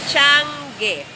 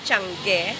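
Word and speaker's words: tiangge: your mini convenience store it's a chan game the tagalogs pronounce it as chunky that's very convenient standing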